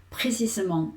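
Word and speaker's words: précisément: Tengo que sílaba a sílaba, es decir, pre si m, es decir, yo veo cada una de las sílabas y ahora lo que no voy a decir tan lenta, voy a decir precisament y ten cuidado lo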